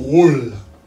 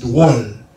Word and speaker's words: drôle: Une règle française qui dit que les voyelles là, il y a un accent circonflexe sous lui. Il n'est pas prononcé de façon lourde. Par exemple, nous avons drôle. D-R-O accent circonflexe L-E. Il y a des gens qui disent drôle. Mais tu as préféré dire drôle.